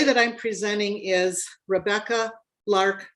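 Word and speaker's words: Lerch: And the way that I'm presenting is Rebecca Lark. And I will spell both. Lark is spelled L E R C H.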